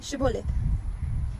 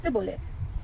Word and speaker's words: Shibboleth: And if he said no, Then they would say to him, say Shibboleth. But he would say Sibboleth, not being able to pronounce it correctly.